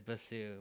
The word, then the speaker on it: Bassoo: My last name is Bassoo. But Okay. It's Bassoo. Yeah. Okay. But like perfect. my old school crew calls me like Bassoo, because that's where it started.